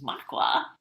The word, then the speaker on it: Makwa: But I wanted to read to everybody today, before I introduce Makwa to you.